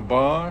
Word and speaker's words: Baugh: How was the last name pronounced? Baugh, B-A-U-G-H.